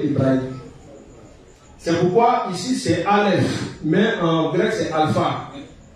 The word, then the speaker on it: Aleph: Le Aleph, lorsque ça se trouve dans une phrase, c'est muet.